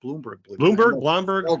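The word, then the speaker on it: Blomberg: Major League Baseball Ron I think it's actually pronounced Bloomberg Bloomberg yeah yeah trying to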